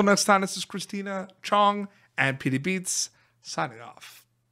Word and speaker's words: Chang: absolutely no but you you said it Chang when it's pronounced Chong just in case they